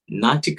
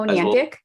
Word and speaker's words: Niantic: players there are, again, Facebook, and you've got Natica, I'm pronouncing the name wrong, but the Pokemon guys, really big. Oh, Niantic?